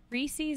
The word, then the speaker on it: Reese's: Reese's and pecan.